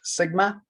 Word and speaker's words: sigma: this symbol here it is uh that is pronounced sigma it's a greek letter and it's the symbol